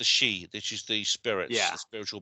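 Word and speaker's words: sidh: land of the spirits they call them she it's spell it's spelled s i d h the she which is the spirits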